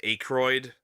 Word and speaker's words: Aykroyd: Pronounced Aykroyd. Okay, Aykroyd.